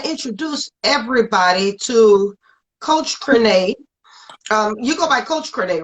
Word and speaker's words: Crenee: My sister's name is Renee, and Coach Crenee rhymes with Renee.